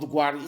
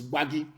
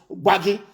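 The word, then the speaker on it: Gbagi: It is not Gwari. It is Waggy. That is the correct pronunciation. Because in Hausa intonation, they cannot pronounce Waggy.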